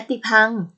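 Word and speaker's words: ยติภังค์: ว่า และ หรือ กับ ตัว อย่าง เช่น ยติ พัง อ่าน ว่า ยติ พัง ระยะ ทาง นครนายก ถึง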